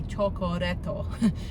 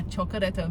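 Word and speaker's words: チョコレート: So chocolate would be chocoreto. So it's like, yeah, chocoreto. Milk is miruku. So it's miruku. So chocoreto, miruku.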